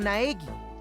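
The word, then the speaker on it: 苗木: Before we go any farther, Makoto Negi. I guess I should introduce myself. My name's Makoto Naegi. God, he pronounced it for me.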